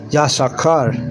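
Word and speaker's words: יששכר: And you say yashakar. Yashakar. That's how you say Issachar in Hebrew.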